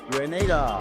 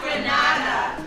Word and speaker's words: Grenada: It's not Granada. It's Grenada.